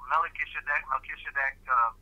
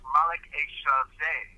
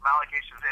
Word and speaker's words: Melchizedek: Now, Melchizedek, always mispronounced, misspelled in our scriptures. They just corrupted it, you know. But it's Malek Eshazeh. It's Malek Eshazeh. There's no D in it, no deck.